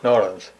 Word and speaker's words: New Orleans: And it's pronounced New Orleans. New Orleans. No, New Orleans.